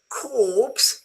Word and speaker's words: corpse: Corpse, you don't pronounce the R.